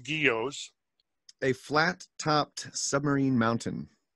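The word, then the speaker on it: guyot: are when you guys g-u-y-o-t give us the definition geos the pronounced guillos a flat topped submarine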